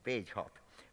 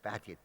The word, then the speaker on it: Bagehot: originally uttered by Walter, can't never pronounce it. I call him Bagehot, but I think the English seem to call it something like Bagehot or some other thing.